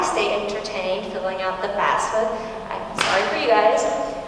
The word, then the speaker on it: FAFSA: Nobody says it right. I don't say it right. Half the time I'll say FAFSA, but it's FAFSA.